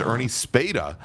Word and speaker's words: Ernie Speda: And then uh in fourth and I want to thank Aaron Wilson for correcting us on the spelling it or probably the pronunciation. It is Ernie Speda uh in the Porsche 911 uh GT3 Cup car.